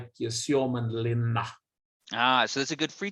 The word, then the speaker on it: Suomenlinna: Does the tour visit Suomenlinna? I'm not sure if I'm pronouncing that right. Or do group members go there independently? Not a bad pronunciation, Nelson. Thank you. Respect. Suomenlinna, if we should be correct, is also in